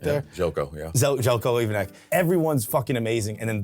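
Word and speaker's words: Željko Ivanek: Pronunciation correct there? Zelko, yeah. Zelko Ivanek.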